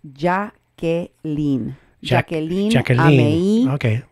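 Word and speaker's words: Jakelin: calm ma Quinn say her name justice fridge Jacqueline 90 minutes past Jake Lindh 90 minutes past before she was given medical attention it's actually pronounced JA gay lean jacket chuckling okay say your name Jacqueline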